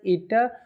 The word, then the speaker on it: eta: of the symbol is ETA okay this is pronounced as ETA so this is a symbol of efficiency clear